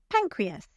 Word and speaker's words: pancreas: For example, pancreas. Here, the first syllable is stressed. Pancreas. Now you say it.